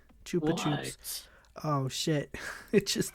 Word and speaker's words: Chupa Chups: It is pronounced Chupa Chups. Chupa Chups in the US and Chupa Chups in the UK. We are both correct.